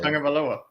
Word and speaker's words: Tagovailoa: I'm not even going to try to pronounce his name. Yeah, Talia. Oh, it's easier than his last name. Talia Tagovailoa.